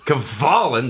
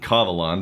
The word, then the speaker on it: Kavalan: Kavalan, the correct pronunciation of the Taiwanese distillery. Not Kavalan.